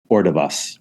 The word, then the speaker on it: Ordovás: So Susana Ordovás, is that how you pronounce her last name? Ordovás.